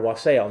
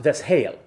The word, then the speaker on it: wassail: are going to say, but that's not how you pronounce it. You pronounce it wassail. Technically, it's actually pronounced Veshail, but that's going back a couple of centuries before.